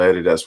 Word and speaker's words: Adidas: of the rest of the Adidas, which is how we pronounce that in New Zealand, all the Adidas ones.